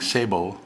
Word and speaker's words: sabot: bullet in a plastic sabot. Hey, you pronounced that correctly. Yeah. He's a wise one. Sabot, that means shoe? Right, French for shoe.